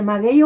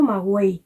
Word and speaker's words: maguey: ¿Cómo se dice? ¿Maguey o magüey? Maguey. Maguey.